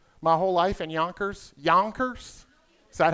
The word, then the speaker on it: Yonkers: Yonkers? Is that how y'all say it? Yonkers? How do you say it? Yonkers.